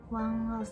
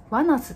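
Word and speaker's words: ONEUS: ワンアスっていいのか。ワナスって読むんだ。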